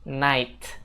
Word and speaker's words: night: Dan untuk malam itu teman-teman jangan bilang night, tapi night. Night. Jadi GH-nya itu nggak dibaca ya guys.